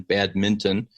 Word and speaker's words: badminton: shoot baskets or do badminton, and I like how you pronounce it with the N, badminton, which is the correct pronunciation, that sometimes, or more